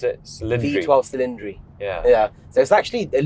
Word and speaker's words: Cilindri: How do you pronounce it? Cilindri.